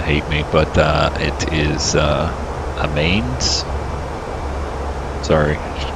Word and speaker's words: Amiens: See, these Europeans are going to hate me, but it is Amiens.